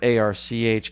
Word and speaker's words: arch: I spell it A-R-C-H because it should be architecture, but I pronounce it arc.